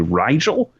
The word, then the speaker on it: Rigel: I got to assume that the team names are based off of stars, because the rival team they pronounce it as Regal, but I think it's supposed to be Rigel, because the main character's team is Spica.